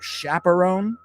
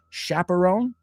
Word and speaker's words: chaperone: Aunque se pronuncia chaperone, aunque es una CH, chaperone and chauffeur. Son dos de nuestras CHs como chef, como Chicago, como Michigan, que realmente no son CH, son SH.